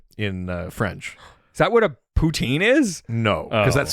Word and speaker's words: poutine: Is that what a poutine is? No, because Oh. that's spelled differently.